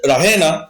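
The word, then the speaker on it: Raina: কিভাবে সে ডাকছে, বলছে রাহেনা। দ্যাট মিনস এখানে ই এর উপরে ট্রেস দেওয়া হয়েছে, রাহেনা। সি প্রোনাউন্সেস ইট রাহেনা with the trace on দ্য ই।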